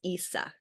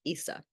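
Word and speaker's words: Isa: today was this one this one's Issa is how you would pronounce that it looks like just an i it's like Issa and Issa is basically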